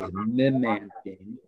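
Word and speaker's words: memantine: which is amanda uh and the other is mimanthine which is m-e-m-a-n-t-i-n-e and both of those are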